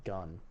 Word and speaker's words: Geon: His name is literally Gun. Gun. Gun. What a boss. Yeah. Well, Hope that kid pulls. it's like it's actually Geon, but it's pronounced Gun.